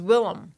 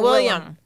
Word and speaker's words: Willam: Alo and you know his name is Willam Willam it's not William William def Mandy already he's